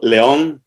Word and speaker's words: León: Leon Fink, to whom we call León in Latin America, not only because his name is pronounced that way in Spanish, but because Leon has